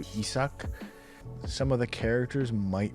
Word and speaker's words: Issak: about the title while in Japanese it's the pronunciation probably closest to isok some of the characters